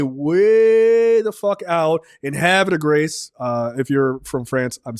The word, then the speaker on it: Havre de Grace: They stay way the fuck out in Havre de Grace. If you're from France, I'm sorry. It's pronounced horribly. I understand how Americans say it.